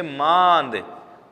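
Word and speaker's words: माँद: लीजिए की मां महान द इसको हम बोलेंगे मांद अगर चंद्रबिंदु नहीं होता तो हम इसको बोलते मां दे मां लेकिन चंद्रबिंदु लगा हुआ है तो हम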